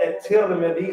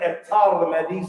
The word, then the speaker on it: At-Tirmidhi: book, for example, is it can be said in different ways. Some of the scholars said At-Tirmidhi, some said At-Tirmidhi, some said At-Tirmidhi.